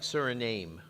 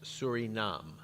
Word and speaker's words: Suriname: to see is that it looks like Suriname that's the name but it's pronounced Surinam Surinam and it is